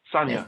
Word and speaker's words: Sanja: san sanya sanya sanya sanya excellent i had a feeling the jay wasn't saying it i find it easy